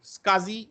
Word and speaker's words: SCSI: a small computer system interface or isui okay skazi and there is also an iSCSI but it's called is Kazi but it is pronounced Kazi and uh advanced technology attachment or